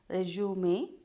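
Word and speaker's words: résumé: also known as resume it is pronounced as resume cb that is resume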